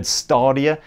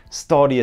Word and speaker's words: Stadia: stereo yet as well i say stadia i've heard starrier studio sounds a bit oh upper crust posture just one of